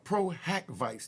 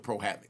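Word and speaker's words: pro hac vice: that Busby has to seek proag Vice now Pro hack Vice that's how it's pronounced PRACK Vice p r o- haav Dash uh VI but we you know the court system we just call it pro Havoc now I'm G break down what Pro havoc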